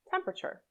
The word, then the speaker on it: temperature: history temperature the second e after the p is often not pronounced right so you can link the p to the r temperature temperature in vegetable the second